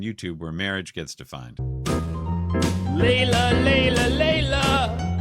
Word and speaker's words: Leila: Leila. Leila. Leila. Leila. Leila. Leila. Leila. L E I L A L E I L A.